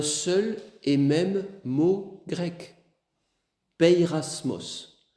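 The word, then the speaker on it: πειρασμός: Pirasmos. Pirasmos comme ça se prononce. P E I et cetera.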